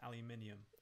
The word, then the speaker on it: aluminium: And it's pronounced aluminium.